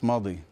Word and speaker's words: Mahdi: How do you pronounce his name? Shaban Sharif Mahdi or Mahdi? Shaban Sharif Mahdi.